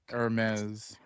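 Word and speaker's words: Hermès: No, the H is silent. Hermes cuz it's Hermes.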